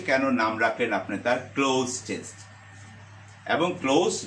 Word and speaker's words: cloze: 6 নাম্বারেও কিন্তু একটা ক্লু দেওয়া থাকবে, ক্লোজ টেস্ট উইথ ক্লুজ, এই প্রশ্নটার নাম।